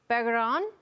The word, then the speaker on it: Begarin: mentioned that 45th pick juan bergeron i think is the pronunciation we're going with just 18 years old